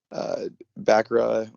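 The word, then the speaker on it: Bracca: I liked seeing Bakra, or how do you pronounce that? Bakra? Braca. Braca.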